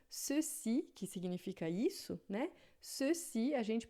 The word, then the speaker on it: ceci: Se tiver na frente do E e do I, a gente vai pronunciar com som de S, como em português. Então, ceci, que significa isso, né? Ceci, a gente pronuncia ceci, né?